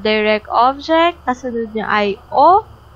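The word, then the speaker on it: を: And of course, if we have direct object, kasunod niya ay O, written Eiga by Wo, like this, but pronounced as O.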